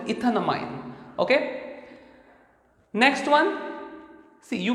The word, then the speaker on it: ethanamine: So E is removed and amine is put and you pronounce it as ethanamine, okay.